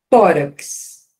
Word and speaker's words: tórax: ó que beleza ó tórax tórax cabe aqui ó Mas por que que cabe ó sílaba tônica tá vendo penúltimo Não é a primeira é a penúltima paroxítona terminada em X tem acento ó enfim Olha isso